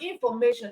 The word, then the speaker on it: information: Now we have information. Information also ends with tion, and then the syllable before tion in the word information is may. So we have may as the stress syllable. Information, mation.